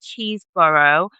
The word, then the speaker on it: Chesebrough: So, the story begins with Robert Chesebrough. I'm I hope I'm pronouncing his name right.